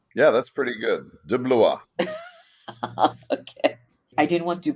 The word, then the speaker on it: De Blois: How do you pronounce that name? Your last name? Yeah, that's pretty good. De Blois.